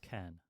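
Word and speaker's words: cairn: Can I get a pronunciation, please? Can can.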